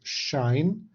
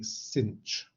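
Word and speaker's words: sinh: it to say it the way i prefer is to pronounce this as shine some people like to say cinch use whichever one you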